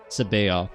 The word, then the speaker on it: Sabaoth: Sabaoth, not the Sabaoth. Like Black Sabbath.